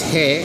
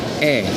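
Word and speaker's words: へ: but uh but it's it almost sounds like e as in E without the H so again for column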